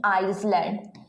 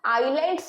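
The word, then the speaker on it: islands: ये दोनों ही आपका गलत है, बिकॉज आइलैंड्स में ये जो एस है आपका ये साइलेंट है, दैट्स वाई इसका प्रोनाउंसिएशन होगा ओनली आइलैंड्स।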